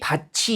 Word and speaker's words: 밭이: 그래서 디귿이 이를 만났을 때 지읒으로 발음되는 거고 마찬가지 티읒이 형식 형태소 이를 만났을 때 뭐로 발음되는 겁니까? 치읒으로 발음이 되는 거죠.